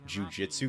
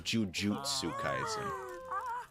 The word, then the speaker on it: jujutsu: saying it wrong actually i've been saying jiu jitsu kaizen but it's jujutsu i just don't correct